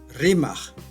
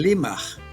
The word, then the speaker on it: rimaj: Rimaj se convierte en limaj, luego lima.